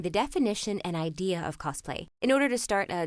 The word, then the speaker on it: cosplay: roleplay but either way it should be pronounced cosplay with an S not cosplay with a z I'm not sure where